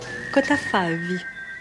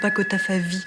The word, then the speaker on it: Cottafavi: And if you really loved his films, you'd pronounce it correctly. Cottafavi. Not Cottafavi, like a cocky Parisian kid.